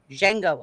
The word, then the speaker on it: Django: The D is silent. Jango Unchained.